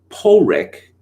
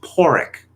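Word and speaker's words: Pádraig: got a flea in my ear uh for pronouncing it pulrik and i was told with great hostility as if i committed some terrible crime that it's actually pronounced porrick okay all right but back to hitchens near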